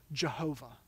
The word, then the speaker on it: Yahweh: refers to what we we best guess think is pronounced Yahweh or or in King James language Jehovah it's it's the personal